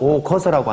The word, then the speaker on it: 오거서: 사내남 아이야 모름지기수 일글도 다섯오 수레거 글서를 써서 여기서 수레차는 수레차라고 읽으면 되지 않고 수레거로 읽어야 됩니다. 그래서 남아수독 오거서라고 하는 말은 남자는 모름지기